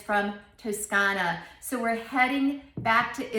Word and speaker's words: Toscana: bronchia is the name of the winery and toscana is where it's from toscana is the same thing as tuscany toscan is